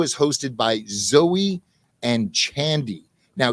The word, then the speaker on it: Chandi: hosted by zoe and chandy now chandy if i mispronouncing your name because i want to say candy but it's c-h-a-n-d-i and the all-wise internet told me it was pronounced chandy so hopefully i'm getting